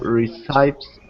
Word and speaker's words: recipe: Okay, so remember this word right here is recipe. So it might be easier for you to see it spelled phonetically a little bit. So Recipe. recipes. Okay, Recipes.